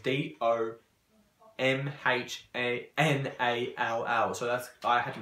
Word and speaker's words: Domhnall: If people would know how that same spelled, it's Domhnall.